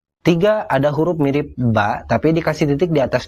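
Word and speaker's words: باء: tengah dan di akhir namanya ba bunyinya mirip huruf b dalam bahasa Indonesia jadi kalau dikasih vokal dibacanya ba bi bu tiga ada huruf mirip ba tapi dikasih titik di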